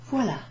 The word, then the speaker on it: voilà: So the word is voilà. Voilà. Voilà. You've heard it, haven't you? Okay, so voilà, for example, if I give you this little gift. Voilà.